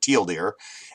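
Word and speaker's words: TL;DR: semicolon R uh drr short for you know too long didn't read but he pronounces it teal deer and you know he's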